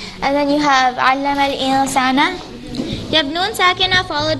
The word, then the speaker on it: الإنسان: And then you have عَلَّمَ الْإِنسَانَ. You have نون ساكنة followed by سين. Again, this is إخفاء. Don't pronounce the نون clearly when you have إخفاء. So it's going to be علم الإنسان.